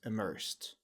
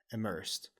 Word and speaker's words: immersed: E is silent and the D is pronounced like a t sound so it's immersed like a immersed immersed and immersed means